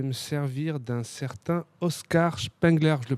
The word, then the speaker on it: Spengler: Et pour ça, je vais me servir d'un certain Oscar Spengler. Je le prononce bien ? Oui, Spengler, oui.